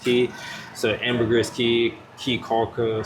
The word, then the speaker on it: Caye: That's why today we made our way to Caye I keep wanting to say Key because it's C A Y E, but I believe it's pronounced Key.